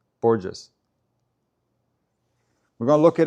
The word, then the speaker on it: Borges: Semito says it's a J sound, not an H sound. Borges. Borges.